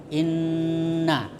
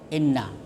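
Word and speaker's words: إِنَّ: Kalau ada nun bertasdid atau mim bertasdid ah itu disebut gunah. Mendengung. Jadi bacanya inna. Jadi bukan inna. Jadi dipanjangkan, didengung inna.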